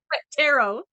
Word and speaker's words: tarot: Originally, I was intrigued by the idea of like entities from tarot cards going after Tarot. Tarot cards. tarot. I said it right. Yeah. The T is silent.